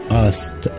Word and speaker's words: asked: Number 11 سألة المضارع يسأل يعني ask، ask لكن الماضي مش هقولها ask كده، هنقولها asked، asked مش هننطق الكي ودي هننطقها ت، عشان كده نقولها asked، asked.